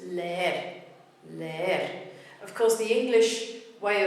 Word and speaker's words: leer: The root is le and the ending is er. But we have to keep it as those two syllables, so that gives us leer.